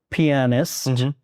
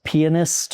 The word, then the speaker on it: pianist: I was trained as a classical pianist at first. Yes, I never knew how do you pronounce pianist or pianist? Yes, so either one I think is correct.